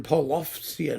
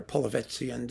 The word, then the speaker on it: Polovtsian: Now the Borodin Polovtsian or Polovetzian dances. You can pronounce it either way, so don't give me any crap about it, friends, please.